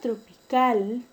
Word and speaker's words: tropical: La palabra tropical, la mayor fuerza de voz está en la última sílaba. Entonces, es una palabra aguda. Pero no se tilda porque termina en una consonante diferente a N y S. Entonces es una palabra aguda sin tilde.